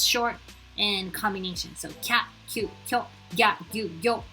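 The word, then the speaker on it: きゃ: K with a YA, you read it as kya, kyu, kyo, not kiya, kiyu, kyo.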